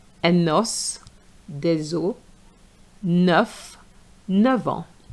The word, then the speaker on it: os: enough des œufs Now for a bone un os des os un os So the S is pronounced. But for the plural it's silent.